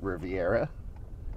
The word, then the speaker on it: Riviera: And I'm pronouncing it Riviera because it's spelled Riviera.